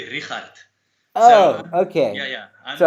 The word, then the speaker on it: Richardt: pronouncing it right like is it supposed to be rich hard or is it no it's it's it's supposed to be rihat oh okay yeah yeah